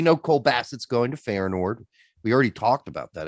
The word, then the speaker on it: Feyenoord: Am I pronouncing that properly? Feyenoord, yeah.